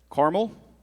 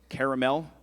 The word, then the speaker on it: caramel: Marin, your word is caramel. It could also be pronounced caramel.